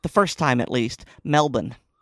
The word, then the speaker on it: Melbourne: Um, I have had several Australian friends who have told me the the correct pronunciation, and you did it correct the first time at least. Melbourne.